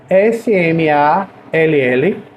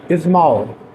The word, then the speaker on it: small: S-M-A-L-L, né? Mas eu leio small. Apesar de eu usar um A, eu leio small.